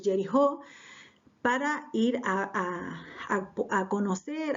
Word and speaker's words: Jericó: dos espías hasta ir hasta Jericó o hasta como en realidad se pronuncia Que jerijó para ir a a